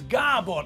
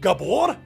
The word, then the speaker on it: Gábor: It's Gábor, not Gabor.